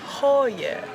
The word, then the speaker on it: Køge: She actually told us the proper way to say it, which is Køge.